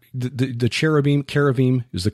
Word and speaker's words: cherubim: yeah so they were not the the cherubim Cara Veeam is the correct pronunciation in the Bible were not they were